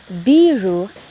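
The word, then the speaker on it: ビール: biru means building but if we will say beeru since the first syllable has the column it means beer so the meaning will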